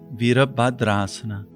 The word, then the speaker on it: Asana: of their true being the phonetic pronunciation isana in Hindu mythology